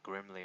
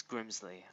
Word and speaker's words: Grimsley: I said is wrong I think I said his name wrong the first time I said like grimly or something it's Grimsley I guess move three damage